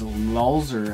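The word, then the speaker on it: Lolzer: Since I just mentioned his YouTube channel, is Lulzer, I think is the way he pronounces it.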